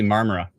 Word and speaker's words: Marmora: uh it would be I'm gonna pronounce this wrong Marmora did I get it wrong I said the o mamara marmara it'll be marmara uh area I would